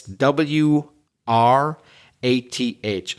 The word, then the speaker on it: wrath: is W so it's w r a t h So Silent w at the beginning a bit like the word write w r i t e so wrath is an